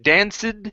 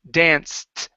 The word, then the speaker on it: danced: okay same thing here instead of danced it's danced with a t sound nearly danced above her